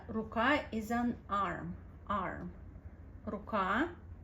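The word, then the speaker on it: рука: pretty um short so in Russian it's slightly more like Raa Raa you have to pronounce it you have to give this letter couple of seconds of attention to make the sound R Raa Ruka R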